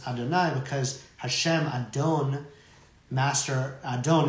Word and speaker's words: Adonai: the ineffable name this this tetraat pronounced as Adonai because Hashem Adon Master